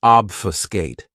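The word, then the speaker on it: obfuscate: Another great verb which is one of my favorites is obfiscate. This verb has three syllables and the stress is on that first syllable.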